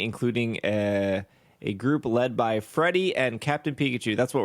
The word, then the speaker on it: Friede: I was pronouncing it Freed in my head, I think. Freed too? Freed. I guess that makes sense. There's not Freddy because the I is there. Yeah, The I should be after the D. And free is a word. Mm-hmm. I mean, it is spelled Friede. Freedy. I'm gonna go with Freed. It's German is the problem, Okay.